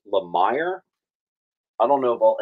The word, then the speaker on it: Lemire: Jeff Lemire, although someone just told me it's pronounced Lemire.